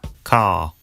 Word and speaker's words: car: father father car car notice that the final R sound is not pronounced in British English father ends in a simple schwa vowel like father and in car the vowel sound is lengthened in place of the R sound car now the thing